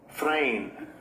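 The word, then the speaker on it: φρήν: Strong's G Pronunciation. 5424. Frame.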